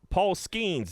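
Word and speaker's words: Paul Skenes: going free coffee uh Paul schemes is how you say his name the Pirates number one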